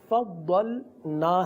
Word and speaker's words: فضلنا: Channel کے ناظرین بھی کہ فضلنا ہے، لیکن بعض اوقات یہ ادا ہو جاتا ہے فضلنا، یعنی لام جو ہے وہ حذف کر دیا جاتا ہے، فضلنا پڑھیں گے.